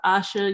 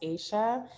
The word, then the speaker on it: Aisha: But Asha, you're next, and then we're going to do Jem. Hi, so my name's actually pronounced Aisha. Aisha, I'm so sorry.